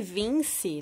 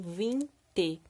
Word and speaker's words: Vinci: Então, se escreve Vinci, né, o nome do Leonardo da Vinci, mas como ele era italiano, a gente fala com o som do número, né, da numeração, 20.